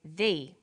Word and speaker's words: the: difference in pronunciation though when the comes before a vowel sound we say thee the apples so the before vowel sounds and before consonant sounds let's look at the